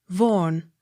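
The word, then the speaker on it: Vaughan: t-y-r-w-h-i-t-t tear it g v-a-u-g-h a n vorn v a u x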